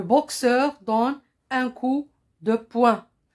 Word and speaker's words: poing: dont un coup de poing il se termine par g la lettre g et